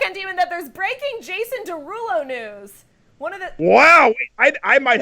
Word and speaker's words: Derulo: no blowing it because it is pronounced Derulo but it spells des our wait play the